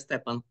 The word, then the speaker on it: Stephan: name correctly I'm sorry Stephan or stepan no worry yes Stephan yes it's correct thank you very much